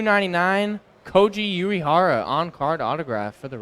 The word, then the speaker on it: Koji Uehara: for the Red Sox number 2 2 99 Koji Uehara on card autograph for the Red Sox Kochi a great job with the pronunciation thank you I did travel to Japan